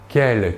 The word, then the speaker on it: quel: Nous voyons que la prononciation est la même, par contre, attention à l'orthographe.